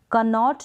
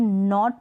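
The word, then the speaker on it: knot: हम night pronounce करेंगे कनॉट नहीं बोलेंगे नॉट पढ़ेंगे कनो नहीं पढ़ेंगे नो पढ़ेंगे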